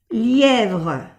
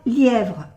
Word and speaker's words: lièvre: Y en francés la V se pronuncia lièvre, lièvre.